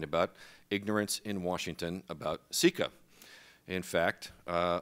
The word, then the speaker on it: CICA: ignorance in washington about ceca in fact uh until about an hour ago i would have pronounced the acronym kika so already this has